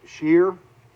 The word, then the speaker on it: Shearer: We're back with Shearer, and I have to stop and think about, is that the correct pronunciation?